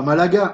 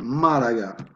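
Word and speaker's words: Málaga: On dit pas Malaga, on dit Malaga. Voilà. Donc ça c'est pour une langue qui utilise beaucoup les accents toniques qui est l'espagnol.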